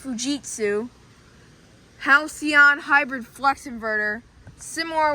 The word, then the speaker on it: Fujitsu: So yeah, anyways, let's start with this Fujitsu or Fujitsu. Most of them, it's actually pronounced Fujitsu.